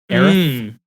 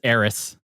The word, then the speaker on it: Aerith: And somebody had pointed out in this video that I watched that said, even her name is very close to the pronunciation of Earth. Aerith.